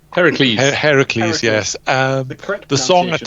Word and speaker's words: Heracles: can't even say his name again now uh herokules Heracles Heracles yes um the song at times slows down